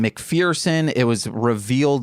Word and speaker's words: McPherson: so so ambitious none of the his name mcferson it was revealed like I I'm I'm glad